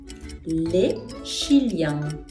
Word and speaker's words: les Chiliens: Les Chiliens. Les Chiliens. Pas liaison.